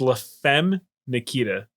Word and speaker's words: La Femme Nikita: It's La Femme Nikita. La Femme Nikita. Yes. Where's the day? What? You were just adding the syllables to that title for some reason.